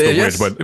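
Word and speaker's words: The VVitch: And I think this movie, well, that's how it's spelled. It's 2 V's. I know it's The Witch, but people say it as The Witch.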